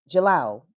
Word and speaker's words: Diallo: So you know anybody that knows about the fani language or whatnot the da the d i a is pronounced as j.